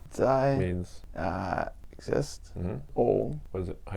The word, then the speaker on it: 在: So, Tsai Zai.